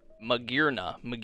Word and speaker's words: Magearna: And we got the Holo, I don't even, Magearna, yeah, that's how you say it.